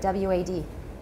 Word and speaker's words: wad: W-A-D.